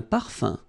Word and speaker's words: parfum: So remember, even if you've got this UM like that, phonetically it's exactly the same thing as if you would have UN. So it's nasal and it's un.